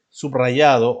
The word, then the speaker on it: subrayado: que nos dice que después del prefijo sub también se pronuncia con er de acuerdo entonces tenemos por ejemplo subrayado o subrogación entonces aquí hay una combinación que nosotros podemos producir podemos ser subrayado o subrayado por subrogación o subrogación